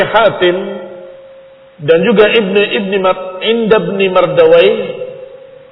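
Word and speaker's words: Mardawayh: dan juga ibn ibni Mardawa kadang mereka membacanya marduyah tetapi kita membacanya Mardawa atau asal katanya Mardawi tapi mereka membacanya Marduyah.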